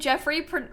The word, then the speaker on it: Joffrey: you were almost named Jeffrey like Joffrey pronounced Jeffrey that's so interesting I